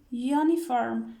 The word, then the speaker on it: uniform: But uniform begins with a u. U from vowel sounds, letters, but here we say uniform. We pronounce it like uniform. So we write a uniform.